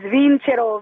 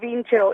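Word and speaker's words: Vincerò: And the last phrase, which you pronounce incorrectly, is vinero. Vincero. It means I will win.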